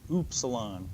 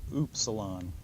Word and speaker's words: Upsilon: say Upsilon ooh Upsilon a lot of books will say it's pronounced like a German umlaut u which helps if you know German but if you don't know German it doesn't help think of it maybe as the English u in the word Universal ewe